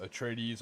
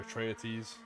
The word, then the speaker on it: Atreides: They had atomic weaponry, and House Ordos had the chemical weaponry, and House Atreides or Atreides, however you want to pronounce it.